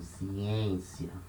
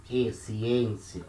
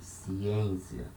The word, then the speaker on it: ciência: So here, letter E before letter N at the same syllable. It's a nasal sound, ciência. It doesn't matter if it has an accent above it, like this. We don't say e ciência, we say ciência.